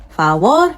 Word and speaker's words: favor: Por, not por favor. Favor because it's ending with an R, which is a consonant.